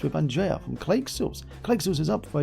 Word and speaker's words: Clayxels: It's pronounced Clayxels. Clayxels? It's not pronounced Clayxels? It depends on how you pronounce. All this time you thought it was Clayxels, and we were wrong. It depends on how you pronounce voxels, I guess. Oh, it's like voxels but with clay.